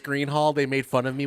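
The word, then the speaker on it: Gruene Hall: welcome to the gr it's actually pronounced Green Hall it's pronounced Green Hall they made fun of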